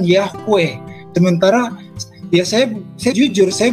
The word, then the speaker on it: Yahweh: Contohnya begini, kenapa di dalam bahasa Ibrani ditulis YHWH? atau diucapkan Yahweh.